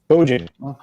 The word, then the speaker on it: Bojan: Tina says Bojan rhymes with Trojan. Okay. Bojan. Trojan. So Bojan. So I've said it right a few times.